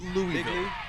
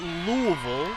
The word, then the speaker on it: Louisville: Bob what is it absolutely Louis its Louie it's not Louisville makes your mouth hurt to say Louisville that doesn't exist it's Louisville Louisville Louisville I always get corrected